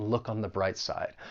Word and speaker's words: look on the bright side: mind that once again, linking will occur. We can link that final c-consonant sound in look with the vowel sound in on. Look on. And remember the article 'the', we're gonna pronounce it with a schwa sound because it comes before that consonant B sound in bright.